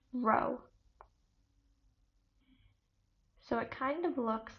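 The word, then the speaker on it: ρ: Its density is P, which is pronounced row.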